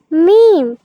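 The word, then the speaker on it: ميم: 2 ঠোঁটের শুকনা জায়গা মিলিয়ে আমরা মিম উচ্চারণ করব। এখানে দেখতে পাচ্ছ, এই যে একটু লক্ষ্য করো এই ছবিটার দিকে। এই ছবিটাতে যেভাবে ঠোঁট মিলানো হয়েছে ঠিক ওইভাবেই আমরা ঠোঁট মিলিয়ে পড়ব মিম।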